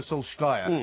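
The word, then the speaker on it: Solskjær: anyway my point is is that o g Soul sky as his name is correctly pronounced from mold uh he was giving a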